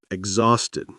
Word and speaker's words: exhausted: Exhausted. Pronunciation exos dead. Listen again. Exhausted.